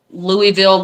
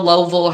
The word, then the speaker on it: Louisville: But there is a guy who's in the Louisville, Lowville, however you want to say it, however these Kentucky people want to pronounce a thing that has an S in there.